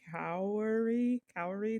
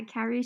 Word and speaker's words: cowry: you're gonna have to help me pronounce is it the cow cow divination with the shells yeah cowry shell yes so how do you